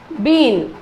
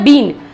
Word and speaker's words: been: अब यहां क्या करेंगे, इसमें आता है बीन. जो आप लोग बीन बजाते हैं ना, बीन, जिसका करेक्ट प्रोनाउंसिएशन होता है बिन, यानी BEEN का सही प्रोनाउंसिएशन है बिन.